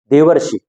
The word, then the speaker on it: देवर्षि: रहा है ऋ का तो इस स्थिति में हमको उच्चारण अर का मिलना चाहिए देखो जब हम पढ़ रहे हैं देवऋषि देवर्षि देवर्षि जब हम पढ़ रहे हैं तो वहां प हमको उच्चारण बीच में अर का मिल रहा है तो इस तरीके से